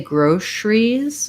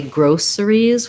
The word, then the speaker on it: groceries: than two but um some people say groceries with um the sh sound and some say groceries with the s sound i use sh that's just because how